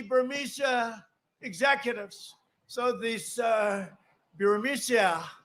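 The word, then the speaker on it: Burisma: executives so this uh buremicia bermucia they say pronounce it barisia a real beautiful company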